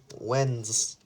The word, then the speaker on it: Wednesday: is Wednesday remember the word Wednesday is propelled w e d n es da Y but we pronounce it Wednesday Wednesday the date is May 20th 2020 the